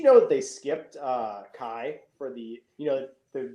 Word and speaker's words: Xi: thing it's it's uh so it's spelled c-h-i i'm sorry i spelled out not chi it's spelled x-i yeah oh the president yeah